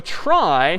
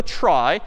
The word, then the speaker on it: trie: a try so a try sort of a weird name and pronunciation short for retrieval pronounced try typically a try is